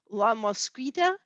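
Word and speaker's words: La Mosquitia: La Mosquita is how they pronounce it, and it is kind of like the Mosquitaville of Honduras, apparently.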